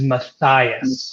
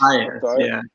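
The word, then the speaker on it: Mathayus: His correct name is Matthias. Matthias, yeah. Which is why I had no idea what it was, because he mispronounced the name.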